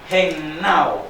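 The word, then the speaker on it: gennaō: La palabra engendrar es la palabra griega gennao, con acento en la A, ¿ok?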